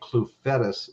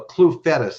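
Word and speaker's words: Clufetos: YouTube and uh and ask for a Tommy clue fetus video you talk about a wild man on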